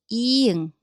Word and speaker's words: 이응: So at the beginning of a syllable, it has a zero sound. It's completely silent. But at the bottom, it makes 응 sound in English. Think of the last sound in a ring. So 이응.